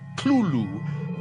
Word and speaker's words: Cthulhu: tells a colleague, well, it's really meant to be 2 syllables. You're supposed to put your tongue at the roof of your mouth and cough it out like Cthulhu.